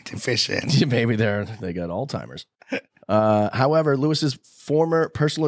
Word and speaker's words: Alzheimer's: he was developing Alzheimer's which that's how you pronounce it Alzheimer's I hate when people say Alzheimer's do people say that yeah it drives me